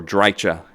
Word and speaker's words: Drycha: Though, you may want to rush to save Azhag from the fury of the dwarves and the fury of Drycha. Ooh, or Drycha as she's pronounced.